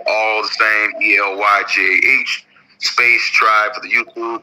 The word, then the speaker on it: Elyjah: So Elyjah, like Jah, Tribe, all one word.